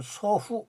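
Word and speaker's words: 祖父: 예.이 있다는 거를 제가 분명히 말씀을 드리고 다음에는 일본어는 이제 녹색 부분으로 되는데음 이게 조부 조부를 일어 발음으로 일본어 발음으로 소후 소후 그 뭐뭐의 할아버지의 소후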